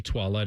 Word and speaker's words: toilette: Yeah, what did you pronounce it? Toilet? Eau de Toilette? It's toilette. Toilette. Eau de Toilette. Sounds like Beauty and the Beast.